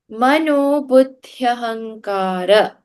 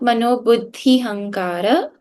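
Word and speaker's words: मनोबुद्ध्यहंकार: Then Mano Buddhyahankara. This one is another super common one. If you wrote that is Buddhaya. The ya has to be connected to the Bud, the and the th.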